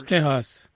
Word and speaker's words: Tejas: That's how you say it in Spanish, Tejas.